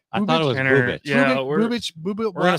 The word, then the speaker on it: Bubic: It's pronounced Bubich. I thought it was Bubich.